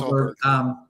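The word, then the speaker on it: Åberg: Aberg or Oberg or whatever they pronounce it. His Oberg, name. yeah, it's Oberg.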